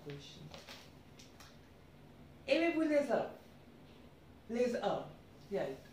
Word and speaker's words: œufs: Les œufs. Yeah, in singular it's œuf, in plural it's œuf, because S gets added up at the end and consonant after consonant, the pronunciation becomes silent.